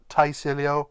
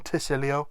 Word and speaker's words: Tysilio: It's a T, as in the Y becoming an I rather than a T or a tie. It's not Tysilio or Tysilio, it's Tysilio.